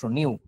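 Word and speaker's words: ν: এটা একটা Greek alphabet এটাকে উচ্চারণটা হচ্ছে নয় রশি রস নিউ নিউ মানে নতুনের যে নিউ ওই নিউ আর কি বানানো একই সরি ইংরেজিতে বানান লেখে এন ইউ যদিও এটা দিয়ে কি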